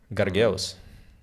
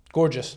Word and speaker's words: gorgeous: Gargeus. Gargoyle? It's Gargeus. Gorgeous. Yeah, that's gorgeous. I like She's that very pronunciation better.